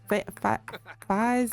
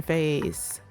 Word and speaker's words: FaZe: So Fiz is here. FaZe is here. Sorry, that's how you pronounce it. FaZe is here.